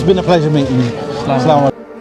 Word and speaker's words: Assalamu alaikum: So, Assalamu alaikum.